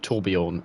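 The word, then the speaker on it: Tourbillon: it's called Bugatti toron it's spelled Tor billion but you got to sound really French when you say it so it sounds like torion from OverWatch um so it's going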